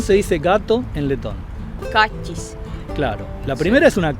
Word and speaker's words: kaķis: A mí me cuesta mucho pronunciar la palabra gato en letón. ¿Cómo se dice gato en letón? Kachis.